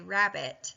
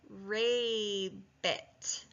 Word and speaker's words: rabbit: makes this sound short if this B wasn't there the word wouldn't say rabbit at all it would say ray bit okay so it's really